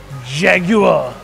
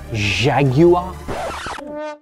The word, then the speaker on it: Jaguar: you know what first you have to say it properly say it's it jaguar jaguar no don't say it like a frenchman nobody cheesy doesn't say properly jaguar jaguar yes you know it's